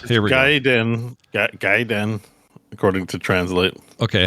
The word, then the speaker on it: Gaiden: Yeah, Ninja Gaiden. Think of it as like the verb you're guiding.